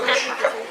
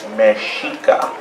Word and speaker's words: Mexica: So the people in Mexico didn't say somos aztecas, they said mexica. Mexica? No, mexica. So we want you to say that, mexica.